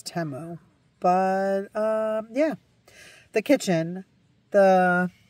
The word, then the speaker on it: Temu: They sell those on Timu as well. I think I might even be saying it wrong. I think it's Temu.